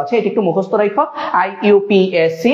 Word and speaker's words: IUPAC: IUPAC বা আমরা এটাকে IUPAC বলি, যদি এটা সঠিক উচ্চারণ হচ্ছে IUPAC।